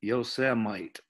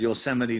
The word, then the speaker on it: Yosemite: And if you saw the president lately, our president, he pronounced it Yosemite. So he got a lot of grief about that. So actually people started making shirts that said Yosemite. But this is Yosemite National Park.